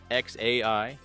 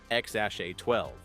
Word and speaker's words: X Æ A-Xii: Grimes says it's X AI. Elon says it's X A12.